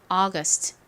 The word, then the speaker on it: August: st 있죠 발음해 볼게요 August August 좋습니다 여기도 앞부분에 강세가 있어요 UST 적어 볼게요 자